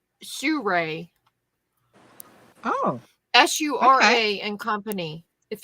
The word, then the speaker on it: Sura: It's pronounced Sure.